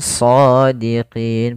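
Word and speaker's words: صادقين: dengan jelas Suara mimnya Kemudian shodiqin pada lafal Shad di sini ada bacaan ee Mad thi'i yaitu adanya fathah bertemu dengan alif maka cara membacanya yaitu panjangkan dulu huruf nya dua harakat Kemudian pada lafal shodiqin ada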